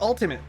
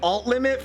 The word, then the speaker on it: Ultimate: I think I've been calling it alt limit for whatever reason. I just now today started pronouncing it correctly and now brain is mad. It's it's the ultimate OS guys.